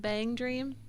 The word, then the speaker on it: BanG Dream: the casual chubster said the plan with Bang Dream, which is how you say it, right?